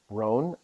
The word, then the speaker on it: Rohn: So one of these quotes that I really love, the gentleman's name is Jim Rohn. It's spelled Ron, Rohn. So it's like John, but with an R.